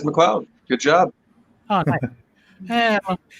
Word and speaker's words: McLeod: Is it McLeod, or am I saying it wrong? It is McLeod.